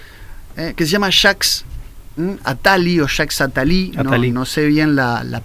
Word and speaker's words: Jacques Attali: conjunto de papers que se llama Jacques Attali Jacques Attali en Sevilla en la pronunciación correcta pero es un autor que vaticina